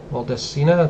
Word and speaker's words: Maldacena: The Maldacena duality? Maldacena, it's spelled M-A-L-D-E, or D-A-C-E-N-A.